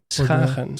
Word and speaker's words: Schagen: Schagen.